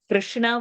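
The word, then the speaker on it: कृष्ण: Krishna would be better, where you do not prominently say the ukara would be a better sound, because separately ukara is over there.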